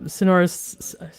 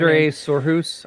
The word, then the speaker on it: Sindre Sorhus: And so yeah, I mean, Sonorous. I just said Sonorous. I always mispronounce their name. Sindre Sorhus, I think.